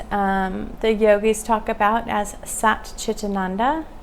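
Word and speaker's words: Sat Chit Ananda: And this is what the yogis talk about as Sat Chitananda, 3 syllables, Sat, truth, Chit, C-H-I-T, is consciousness, and Ananda is bliss.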